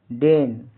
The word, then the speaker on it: deign: DEIGN का उच्चारण डेन। यहाँ EI का उच्चारण ए लंबी ए की तरह होता है। GN में जी साइलेंट मुख होता है।